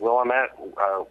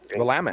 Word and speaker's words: Willamette: I think I've got Portland, Oregon, or I always forget how to pronounce it. Willamette. Willamette.